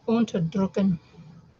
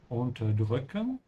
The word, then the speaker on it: unterdrücken: Ach, Unterdrücken. Unterdrücken. Emphasis is on the second part.